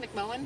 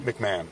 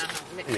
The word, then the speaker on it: McMahon: McMullen? McMahon. McMahon, even though it's spelled Yeah, it's McMahon.